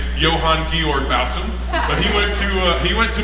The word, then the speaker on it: Johann Georg: They would have pronounced his name Johann Georg Bausum.